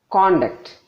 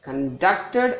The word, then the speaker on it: conduct: that and that so the first one is a noun when the emphasis is more on the beginning the second one is a verb since emphasis is given on their second syllable let us see one